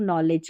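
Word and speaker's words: knowledge: और ये एक नॉलेज की है, ठीक है, नॉलेज में जो के है ना ये साइलेंट है, नॉलेज हो गए, लास्ट में DGE है, इसको ज पढ़ना है।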